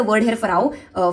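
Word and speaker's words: pharaoh: So that's actually फेराव। ठीक है? I think I miss pronounce it a little but that's fine.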